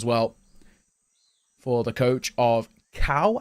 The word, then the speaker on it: Cau: for the coach of Cal, I think is how you pronounce his name. C-A-U. I assume that's Cal, like Macau.